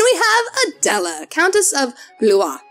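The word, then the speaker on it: Blois: have adela countess of blue it is spelled b-l-o-i-s so in english i want to call her countess of blows but no i ask someone who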